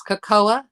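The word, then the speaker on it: cacao: and which what's that it's kakoa not coffee oh caka okay that's right caka so um caka and then there's caca what about same it's different pronunciations yeah but it's almost spelled the same huh weird C aao kakoa uh-huh so kaca c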